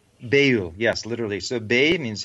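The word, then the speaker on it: beyul: the the periphery and uh background is that pronounced bail bail yes literally so bay means hidden or secret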